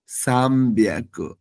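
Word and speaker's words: さんびゃく: হ্যাঁ, এরপর আছি ৩০০ কে আমরা বলবো, আমরা হিয়াকু বললেও ৩০০ ক্ষেত্রে আমরা উচ্চারণ করব সাম বিয়াকু। এখানে হবে বিয়াকু, ৩ ক্ষেত্রে হবে বিয়াকু, মাথায় রাখতে হবে।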